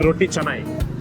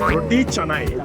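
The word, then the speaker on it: roti canai: மலேசியால பாத்தீங்கன்னா அதுக்கு பேர் ரொட்டி சனாய். ஓகே, சில பேர் ரொட்டி கனாயின்னு சொல்லுவீங்க, ரொட்டி கேனைன்னு. நோ, இட்ஸ் ரொட்டி சனாய்.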